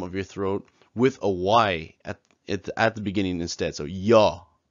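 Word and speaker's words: ㅑ: So here we have ya, which is pronounced exactly the same as ya. It's basically in English when somebody says, "Oh, do you want something?" and you say ya, it's exactly like that.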